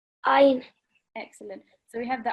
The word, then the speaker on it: ع: Ain.